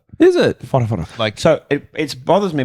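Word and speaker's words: Whatawhata: But it's not called Wata Wata. What do you call it? It's called Fota Fota. How do you spell it? Oh. Like, What's what? Like A? What A? like Dean Farre. WHARE. Yes. What? Well, it's like, I think I guess it's Maori. WH is a F sound.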